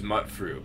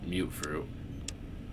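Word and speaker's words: Mutfruit: how do you say I always thought it was Mutt fruit but I guess I've been saying it wrong my entire life and it's actually called mute fruit move through or something like that uh oh yeah I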